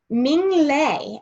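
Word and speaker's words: Minh Lê: Ming Lei is how you say it. So I thought that was, I had to look that up. Ming Lei is the author, and the illustrator is Dan Santant.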